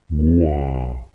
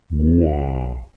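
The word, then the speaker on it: 瓜: Первый способ – это когда звук идет ровно. Например, в слове тыква. Гуа. Гуа.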